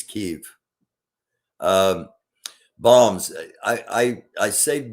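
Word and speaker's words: Kyiv: and uh kiev and kiev kiev was the russian um pronunciation and the preferred russian pronunciation as kiev and the preferred ukrainian pronunciation is keef bombs i i i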